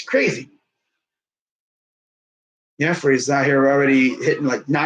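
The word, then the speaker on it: Jefry: So that's how you say his name, Jeffrey.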